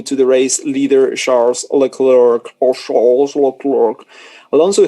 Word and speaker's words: Leclerc: to the clerk the sea in the clear is silent yeah leclerc yeah i know i know i was just